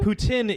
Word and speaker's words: poutine: However, because of the French-English thing, there is a little bit of controversy over the correct pronunciation? Yes. It's I guess poutine. so. It's poutine.